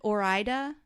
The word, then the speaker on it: Ore-Ida: have a three-year-old so so that um brand or ida is how you say it they have a